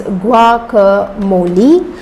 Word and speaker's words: guacamole: Well, its correct pronunciation is guacamole.